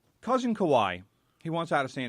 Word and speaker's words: Kawhi: so anyway our cousin Kawhi he Leonard just Kawhi brother y-ye why he doesn't rhyme with a status I know kawaii that's why I called